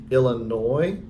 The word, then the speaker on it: Illinois: traveling about, and I was in, let me see if I can say it right, Nancy, Illinois. The S is silent, I was told.